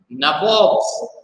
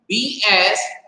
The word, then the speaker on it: Nawab: Now NAWABS is Nawab, but again the European people were not able to pronounce it as Nawab. So instead of Nawab, what do they pronounce it? They pronounce it as Nabo.